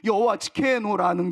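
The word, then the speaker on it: יהוה צדקנו: 여기서 말하는 여호와 우리의 공의라는 히브리어 발음이 여호와 치케누라고 기록되어 있는 바로 그것입니다. 그러니까 한마디로 말하자면 여호와 지케누라는 것은 하나님의 이름이자 장차오실 다윗의 후손 메시아에게 붙여질 이름이었습니다.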